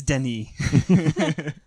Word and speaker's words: Denis: to the point where I was like it's Denny I know German yeah that's about it and